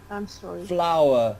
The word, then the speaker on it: flour: make an omelette yes floor or flour flour floor it's ok flour like the bloom like the roses flower is used to enrich